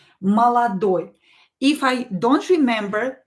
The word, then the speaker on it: молодой: So I pronounce this O as A, this O as A. They are in a weak position. Молодой.